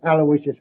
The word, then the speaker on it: Aloysius: Terrence Aloysius Hogan.